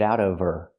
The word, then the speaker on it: of her: Now we need the v sound in of because we don't pronounce the h in her. We link the sounds, get out of her.